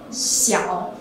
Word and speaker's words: Xiao: So actually, Xiao pronounce Xiao, Xiao Xiao, the means of small in Chinese.